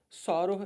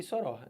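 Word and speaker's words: sóror: estejam corretas tá bom soro e Soror esse aqui nenhum dos dois é mais falado que ninguém sabe o que que é isso né então não fala nenhum deles mas quando se falou isso aqui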